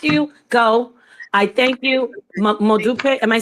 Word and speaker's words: Modupe: Modupe. Am I saying it right? Modup. All right. any final words from from you chief or we say madupi and just say